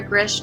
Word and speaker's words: Grzych: but Saturday is grish calm and my last name is spelled gr z YC h I know it's weird Hirsch calm and